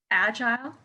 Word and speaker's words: agile: So don't forget, when you're learning a word that ends in ILE, maybe research it and check you've got the pronunciation how you want it. Agile. Oh, interesting. Okay. Yeah, me too. I would say agile.